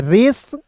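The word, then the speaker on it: race: तो इसे पढ़ते रहे, लेकिन अंतिम में ई है तो आर का र और सी का स, ई है तो इसका उच्चारण एक रूप में, आर ए सी ई को पढ़ेंगे रेस, इन, टी एच ई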